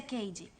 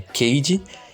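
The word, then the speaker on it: Cady: Lindsay Lohan no papel de CAD e a pronúncia Cage tá bom é Cage e Rachel mcadams como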